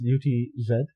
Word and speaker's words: Utz: I don't know how to say it. It's UTZ. What? I think it's Utz.